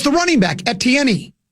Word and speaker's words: Etienne: it's the running back, Etienne. Etienne? That's not how you say it. It's Etienne. Really? That's how you pronounce his name.